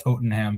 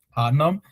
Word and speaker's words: Tottenham: that they know that not everyone on this podcast thinks that it's pronounced Tottenham, but it's rather Tottenham, which is an important distinction for those people that are fans of that team.